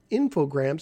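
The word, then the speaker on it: Infogrames: purchased by French publisher infograms who would later or I think I think the S is silent infogram who would later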